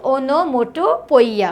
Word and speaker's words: onomatopoeia: The next ये ओनोमोटोपोइया, ठीक है, द प्रोनाउंसिएशन इज ओनोमोटोपोइया, यहाँ पे किसी तरह की आवाज़ आती है, साउंड आता है, राइट।